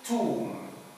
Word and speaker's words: tomb: Like in tomb. And even bomb. Here the B is not pronounced.